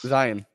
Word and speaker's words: Zion: is the pronunciation we use for it's Zion. You know, it's Zion.